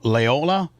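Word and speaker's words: Loyola: Lola Lyola.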